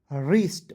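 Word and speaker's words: wrist: ठीक है के एन आई एफ ई कनाइफ नहीं knife H ओ यू are hour W आर आई एस टी रिस्ट वरिष्ठ knife G एन ओ एम ई नोम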